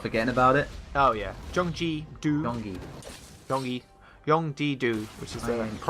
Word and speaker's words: Gyeonggi: Gyeonggi. Gyeonggi.